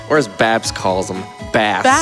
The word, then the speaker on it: Bass: I mean, there's there's something really satisfying about seeing bass or as Babs calls them, bass. Bass. It's like a fish.